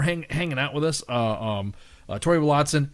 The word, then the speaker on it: Willadsen: It's Danish. That's what I'm saying, and that's how we say it. That's how I've said like a German, like Willadsen. That's how you say it in German or in German. So, in Danish, yeah. I can speak a little Scandinavian, so you'd say Willadsen is what you would say. But yeah, Willadsen. Okay, I'll say it like you, Willadsen.